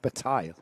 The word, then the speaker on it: Bataille: Now, well, you say Bataille. If that was the French pronunciation, it would be Bataille.